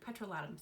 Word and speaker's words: petrolatum: I know, petrolatum, sounds like I'm British, right? That's actually how you pronounce it.